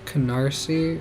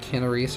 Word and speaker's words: Canarsie: And that's Canarsie, or however that's pronounced. Not, I was reading it with the I before the S. I was saying Canaries or something, in my head, at least.